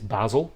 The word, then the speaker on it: Basel: In Swiss German, it is Basel, which is the one